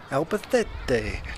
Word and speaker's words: Albacete: It's pronounced Albacete. With a TH. With a TH. Alba, T-H-A-Y, T-A-Y. Albacete.